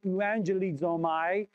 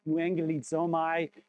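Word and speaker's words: εὐαγγελίζομαι: We, euangelizomai, means that we are, I mispronounced that, euangelizomai, it means that we are the message bearers of the good news.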